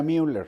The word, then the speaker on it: Müller: Sí sí le en Por qué le digo muller porque en español es muller en español existe la no se pronuncia la diéresis A menos que sea aguitar por ejemplo no sí pero En rigor cuando menos en Alemania sería Müller m muler Sí pero ya estamos